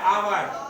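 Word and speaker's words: hour: क्या लिखा हुआ है अवर अवर में भी ह है लिखा हुआ लेकिन ह साइलेंट है ह का उच्चारण नहीं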